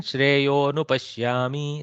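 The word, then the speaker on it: श्रेयोऽनुपश्यामि: So in pronunciation, shreyo nupashyami, like that, it elides from pronunciation.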